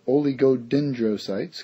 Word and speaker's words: oligodendrocytes: okay so we have oligodendrocytes kind of a mouthful but you just pronounce every letter in there guys not so bad they